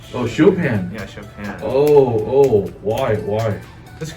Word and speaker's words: Chopin: How do you pronounce his name? Oh, Chopin.